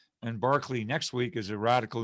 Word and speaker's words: Berkeley: and then next week barkley spelled berkeley like in california but pronounced barkley who's a very great